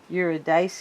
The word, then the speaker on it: Eurydice: And this is Orpheus and Eurydice.